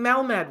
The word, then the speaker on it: Melmed: I didn't Slaughter it before am I saying Mel mad right you say that beautifully okay we don't